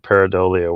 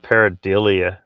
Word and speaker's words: pareidolia: Brandy says, and fuck off with that pareidolia word.